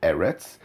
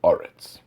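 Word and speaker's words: ארץ: So then the correct way to pronounce it is not Eretz. The correct way to do it is to turn the segol into a kumatz and say Oretz.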